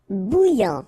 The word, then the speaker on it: bouillant: Bouillant, final T not pronounced. A-N together, remember, nasal, en, okay? And then here you get bou, alright? And after that you get this yan, okay?